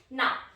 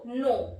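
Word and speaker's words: know: Okay, now from letter J, J-U-S-T, just. K, K-N-O-W, no. Here K is silent.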